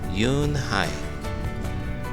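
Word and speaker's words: Unhei: is spelled u n h e i it's pronounced Yoon Hai oh it's you hey the boy said like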